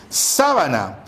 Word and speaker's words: sábana: De igual manera tenemos aquí sabana. El término sabana implica una parte de la selva donde existe o hay poca vegetación, que es distinto a decir sábana.